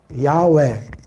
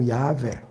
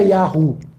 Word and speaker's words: Yahweh: A pronúncia mais correta, mais provável do nome do nosso eterno Deus seria Yahweh ou Yahvé. É a pronúncia mais próxima, que tem mais força arqueológica, histórica, dentro da história. Não é Yahu.